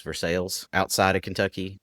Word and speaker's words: Versailles: I've had people tell me, oh, no, it's pronounced Versailles. And I was like, it ain't pronounced Versailles in French. So why would it be pronounced Versailles in America? Versailles is more accurate to the French than Versailles is.